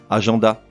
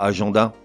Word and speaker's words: agenda: Agenda. Non, pourquoi agenda? Certes, ça s'écrit A-G-E-N-D-A. Et certes, les lettres E-N devant un D devraient se prononcer en. Mais pas là, ça se prononce agenda.